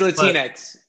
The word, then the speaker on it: Latinx: how you say it it's latinx yeah there you go sounds like kleenex yeah exactly the greatest